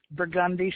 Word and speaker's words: Burgundy: It's Burgundy Street, not Burgundy.